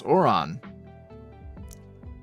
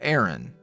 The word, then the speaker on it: Oron: preoccupied split die asks how do you pronounce oron which is oron not Aaron or a a a a Ron Ron Hideout any it's